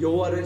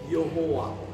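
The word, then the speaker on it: Jehovah: 불렀으니까 아도나이 모음을 붙여가지고 여호와, 이게 이제 독일에서는 J로 씁니다. 영어로서 Y로 쓰는 것을 J로 써서 제호바, 그리고 우리가 보통 읽을 때는 여호와 이렇게 해서 우리 한국에는 여호와라는 신명이 이제 사용되는 것인데 정확한 발음입니다.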